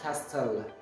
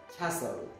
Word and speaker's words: castle: doubt doubt without beef castle castle without tea we don't have castel castle thank you